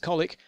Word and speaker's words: Colwick: We've got Colfell, Colwood, Colbury, Colesbury, Cologne, Colchester, Colwick, pronounced Colic, Colton, Coca-Cola, Koala, Carbonford,